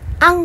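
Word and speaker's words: ăn: A 하고 N 하고 A에는 이 반달 모양이 있어요. 그래서 이 반달 모양이 있기 때문에 발음을 스펠링상으로는 아닌 것 같지만 발음할 때는 앙 하고 읽어요.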